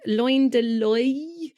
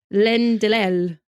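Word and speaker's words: Loin de l'Œil: So when you say I in French, I in French is apparently pronounced oi. Oi. So I'm going to go with like loin de loy.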